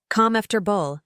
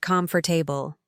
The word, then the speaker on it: comfortable: 2 funny pronunciation fixes, comfortable. Calm after bull, not comfortable.